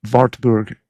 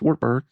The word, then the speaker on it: Wartburg: And so Wartburg would be the pronunciation there. But in Morgan County, Tennessee, it's Wartburg because that's what it looks like.